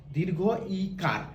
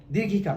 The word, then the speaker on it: দীর্ঘ ইকার: কি, এটাকে দীর্ঘ ইকার, উচ্চারণটা হবে বাংলায় দীর্ঘ ইকার, দীর্ঘিকার না, অনেকে দীর্ঘিকার বলে, দীর্ঘিকার না, কেন না,